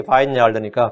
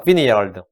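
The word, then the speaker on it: vineyard: 당연히 그게 바인야알드니까 비니야알드. 우리가 바인야알드, 바인이 포도원, 발음은 비니야알드인데 그게 포도원인데 우리가 한국 사람은 이 포도원이라고 하지 않고 과수원이라고 그래요.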